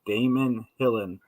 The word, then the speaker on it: Daemon Hillin: It's Jason and Justin, and today we are joined by Daemon Hillin. Did I pronounce that correctly?